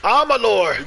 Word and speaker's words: Amalur: in the use of armalor lift the oronos amalor that's how you say it from the hill